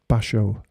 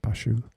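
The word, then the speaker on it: Bashō: everybody should have one basho not bashu or maybe it's spelled two different ways basho means banana in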